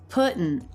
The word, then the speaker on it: putting: on out as well putting out another stop to eat fires all over why is this a stop T well the t is